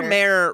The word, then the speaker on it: Undermere: Undermere rhymes with underwear, so I say Undermere.